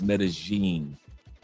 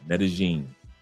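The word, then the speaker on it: Medellín: But it's technically in Colombia is Medigene with a G sound. Medigene.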